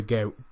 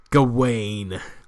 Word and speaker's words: Gawain: Do not be discouraged, Brother Gay. I keep pronouncing his name wrong. Hold on, let me back that up. Do not be discouraged, Brother Gawain.